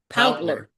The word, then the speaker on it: Pautler: How do I pronounce his name? Poutler.